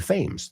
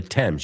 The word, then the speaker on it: Thames: No, the Thames. You say Támesis? Is that how you say it in Spanish? The famous River Thames. So just so you know, es más como T-E-M-S, como se pronuncia en inglés.